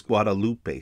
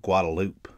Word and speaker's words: Guadalupe: pet peeve of mine the college strip next to the university of texas is guadalupe street but everybody calls it guadalupe another street is named